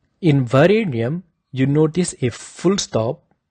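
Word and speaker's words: वरेण्यम्: So it sounds a little bit pressurized, like a na. It should be pronounced as Varenyam, not Varenyam. If your tongue is touching your teeth when you say the N in Varenyam, that is wrong.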